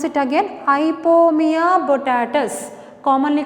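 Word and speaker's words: Ipomoea batatas: I will pronounce it again. Ipomea botatus, commonly called sweet potato. What is the scientific name? I will pronounce it again. Listen carefully. Ipomea botatus.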